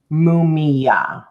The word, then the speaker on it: Mumiah: And that's how you pronounce it. Mumiah.